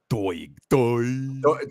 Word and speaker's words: Doig: Doig.